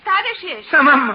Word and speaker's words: Tadeusz: In Poland, we say his name Tadeusz Kosciuszko. But in America, Tadeusz Kosciuszko is fine. Jenna, please. Thank you, young lady. Tadeusz Kosciuszko. How's that? Very good. You say it like you're gonna sneeze, and you got it.